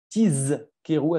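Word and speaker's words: תזכרו: Il faut bien dire Tizkeru avec un Zaïn, donc bien prononcer le Zaïn comme la lettre Z.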